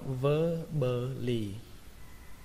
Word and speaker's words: verbally: Từ tiếp theo các bạn đọc là verbally. Trọng âm ở đây rơi vào âm đầu tiên, âm ver, verbally.